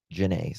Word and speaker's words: Janae: The body was later identified as Janae No, it's not Janie. It's Jana. I think it is Jana. How you pronounce it? Janae. Janae. I apologize. Janae.